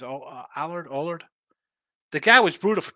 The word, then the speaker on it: Allard: It's Allard.